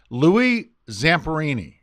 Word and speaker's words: Louis Zamperini: me on the spot see it's Louie Zamperini you know what you did that flawless did I do that